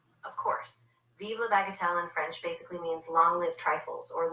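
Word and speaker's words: vive la bagatelle: Of course, viva bagatel in French basically means long live trifles or long live the trivial.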